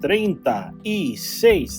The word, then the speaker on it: treinta y seis: And it is pronounced treinta y seis, 36, 36, 36.